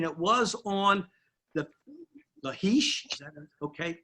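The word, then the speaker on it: Lachish: kind of interesting it was on the the heesh okay pronunciation l-a-c-h-i-s-h was a battle in 701 and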